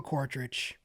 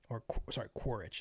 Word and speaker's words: Quaritch: Last but not least, we've got Colonel Quaritch, Quaritch. I added an extra syllable there.